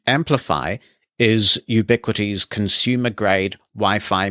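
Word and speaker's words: Amplifi: class of unified products called amplify and that is spelled in a similar way a-n-p-l-i-f-i and amplify is ubiquiti's consumer grade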